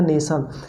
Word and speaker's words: नेशन: जैसे हमने लिखा नेशन, तो देखिए NATION, उसको पढ़ेंगे तो नेटन होगा एक तरह से, क्योंकि टी को हम ट मानेंगे, बट हम उसको जब उसको उच्चारण करते हैं ना तो नेशन बोलते हैं, ठीक है।